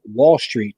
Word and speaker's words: Wahl Street: It's called Wall Street, but it's spelled like Mark Wahlberg. So it's like WAHL Street, and it's like a documentary about his business, right?